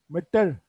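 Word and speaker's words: مٹر: Orada da dikkat ederseniz bir harf, ikinci harfimiz şey harf, tertek söylenen harf, T. Meter değil de meter, meter, meter, meter şeklinde okunuyor. Bezelye derken meter diye okuyoruz.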